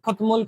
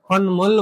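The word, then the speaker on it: 콧물: बग्ने त्यतिबेला काम लाग्छ त्यतिबेला खोतमोल खोतमोल गरेर पढ्यो भने चाहिँ त्यो उच्चारण ठिक भएन है ल यसलाई के गर्ने खन्मोल भनेर पढ्ने बुझ्नु छ हैन त स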